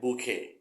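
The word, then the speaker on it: bouquet: คำ นี้ นะ ฮะ ดอก ไม้ บูเก้ หรือ boke นะ ครับ ถ้า ไม่ ออก เสียง ว่า บูเก้ มัน จะ ไป คล้าย ๆ กับ คำ ว่า Blue Girl ที่ แปล ว่า ขี้ มูก นะ ฮะ แทน ที่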